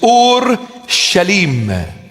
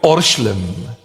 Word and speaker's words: Ur-Shalim: In Aramaic, the proper pronunciation of the word is Ur-Shalim. Ur-Shalim. And we abbreviate it and we call it Orshlim.